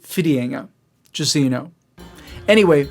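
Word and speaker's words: Whitianga: location which is spelled widienga but it's actually pronounced fidienga just so you know anyway once we were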